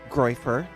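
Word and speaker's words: groyper: He's found to be a groifer. That's the right way to pronounce it.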